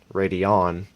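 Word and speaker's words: Radeon: it yeah chips say AMD radian radon as it's pronounced r s730 or seven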